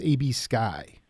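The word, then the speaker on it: A.B. Skhy: It's A.B. Sky. Yes. Okay. SKHY.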